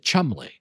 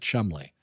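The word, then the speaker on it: Cholmondeley: chaland is the word but they pronounce it Chumley what is it like it's a name it's yeah some sort of name and it's like but they pronounce it Chumley there's a hilarious line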